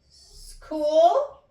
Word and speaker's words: school: So the H here is silent because we don't pronounce it.